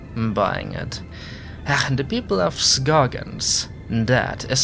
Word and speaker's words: Scoggins: The people of Scoggins, that is how you pronounce it.